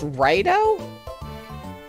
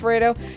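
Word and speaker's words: Raidou: But, I believe it's pronounced Rado? I think it's pronounced Rado.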